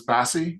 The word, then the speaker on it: BASI: Apprentice established Buoyant Aircraft Systems International, which I I presume you pronounce as Bassie. Is that right? Yes, that's correct.